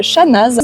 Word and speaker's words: Chanaz: des touristes qui s'appelle Chanaz je vais prononcer le Z à la fin pour que vous puissiez trouver C A n a Z et qui est en